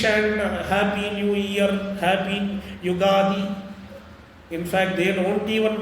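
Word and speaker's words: Yugadi: There is no such word called ugadi. It is Sambats. It is the beginning of a new satsara. Therefore, it is yogadi.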